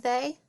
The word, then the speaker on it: they: I see an E and a Y, but it makes like an AY sound.